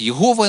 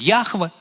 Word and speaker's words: Яхве: читается, и, в принципе, некоторые кажут, что это слово ранее перекладали як Єгова оно гучить, зараз навукоўцы, біблісты кажут, что оно правильно гучить Яхве, але ніхто не ведае, як оно гучить.